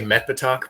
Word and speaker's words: Metbetoch: you say it h i say metto but the the guy the guy whose world it's set in is British but lives in France and speaks French so the the well he does the the correct pronunciation we will never know there's no way to know because it's a Fant